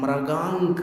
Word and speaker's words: मृगांक: नहीं होता मयंक है इससे समझ में आता है कि इसका उच्चारण मृगांक है मृगांक या मृगांक नहीं है मृगांक है तो यहां पर